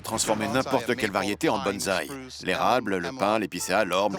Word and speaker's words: bonsaï: J'imagine que c'est un kit pour bonsaï.